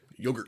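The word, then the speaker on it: Jogurt: to call him, named Yogurt. Yogurt. He's a hamster yogurt. Yeah. It's like it's spelled with a J, but everyone calls him yogurt. They give the Y like yogurt.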